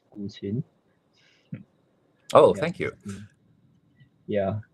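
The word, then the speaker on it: 古琴: So the pronunciation of that word is 古琴.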